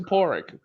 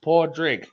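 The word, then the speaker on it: Pádraig: pronounced It's actually pronounced the Scots pronounce it porrick, but in Ireland it's usually pronounced podrig.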